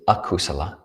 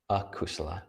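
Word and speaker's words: akusala: kusala k-u-s and the word for unwholesome is a kusala so that's the same word kusala with a which is a prefix negation that goes on the beginning so unwholesome a kusala a k-u-s-a-l-a so one way to remember this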